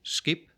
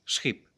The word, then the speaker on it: schip: We do not say skip, we say schip, with the stop k shifting to a fricative ch.